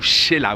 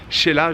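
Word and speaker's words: Xela: aujourd'hui 73e jour dans l'aventuré veille quetzaltenango ou sheila oui ça se prononce celle là ça s'écrit x est là mais ça se prononce sheila je suis sur la terrasse de l'hôtel gros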